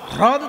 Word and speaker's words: হ্রদ: কিন্তু হ্রদ উচ্চারণটা সবসময় হয় না, হয় রফলা দ, হ্রদ তো।